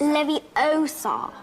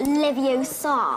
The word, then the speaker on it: Leviosa: someone's eye out besides you're saying it wrong it's Levi Oar not Lev Oar what do you think